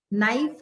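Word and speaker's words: knife: नाइफ, के silent.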